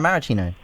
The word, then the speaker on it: Maraschino: I think Sev tried to get me to pronounce that properly last week. Maraschino? Mara Maraschino. Oh, okay. Yeah. All right. Just gotta get the flow. Like the cherries.